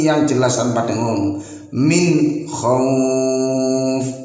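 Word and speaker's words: خوف: Min khauf. Nah, khauf ini bisa dibaca panjang, 1 alif atau 2 harokat, atau 2 alif atau 4 harokat, atau 3 alif atau 6 harokat.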